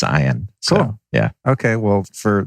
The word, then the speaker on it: Ian: yeah i'm stoked uh why is your name spelled like ian but pronounced iron because it's phonetically correct